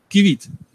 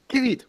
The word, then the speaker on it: Kiewiet: Kiewiet. Kiewiet.